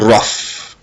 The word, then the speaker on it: rough: Comme dans le mot tough and rough. Tough and rough. Ok? Tough and rough, le son GH est prononcé F.